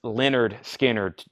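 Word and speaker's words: Lynyrd Skynyrd: get them at all Leonard Skynyrd pronounced Leonard Skinner Music On Vinyl press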